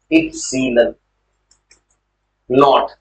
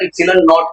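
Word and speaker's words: epsilon naught: इप्सिलॉन नॉट, ये इसको pronounce करते हैं, प्रोनाउंसिएशन जो होता है इप्सिलॉन नॉट करना है।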